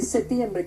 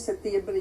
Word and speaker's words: septiembre: Se puede escribir de las dos maneras, pero la Real Academia decidió que generalmente, como nosotros no la pronunciamos, nosotros no pronunciamos la P, entonces que mejor se escriba sin P.